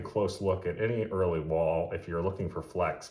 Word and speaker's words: Wahl: long as you're understanding that basic principle so wall is spelled WL fountain pen these were known as